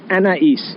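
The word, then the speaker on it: Anaïs: Is it a niece? Am I saying it right? Oh, yeah, no, it's super Anais. Anais. Okay.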